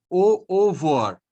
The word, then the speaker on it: au revoir: We say au revoir. Ro is not pronounced, so it is au revoir.